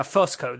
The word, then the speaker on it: Fusco: Yeah, Fusco. That's how you pronounce it.